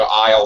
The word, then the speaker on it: aisle: the supermarket you might have to go to aisle 7 all right they have aisles in a